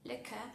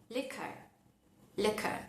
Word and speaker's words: liquor: Por ejemplo, en la palabra check, esto es spelling de UK, o en la palabra liquor, si hablamos en inglés de UK, liquor, o liquor, si hablamos en inglés de US.